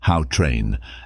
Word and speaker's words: Gautrain: these ambitious projects is the gawran sometimes pronounced how train Africa's first high-speed rail